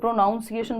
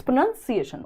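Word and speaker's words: pronunciation: उच्चारण में यूज करते हैं हम साउंड का प्रोनाउंसिएशन है ना कई लोग प्रोनाउंसिएशन बोलते हैं बट इट्स प्रोनंसिएशन उच्चारण हाउ डस इट मैटर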